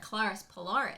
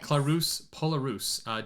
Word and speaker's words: Clarus Polaris: I'm over at Clarus Polaris. Clarus Polarus. Don't listen to me. It's spelled like she said it.